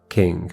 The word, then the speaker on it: Qing: Ching dynasty. Uh Q I N G pronunciation king. Okay.